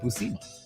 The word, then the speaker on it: Buscema: That's how you pronounce it, Buscema.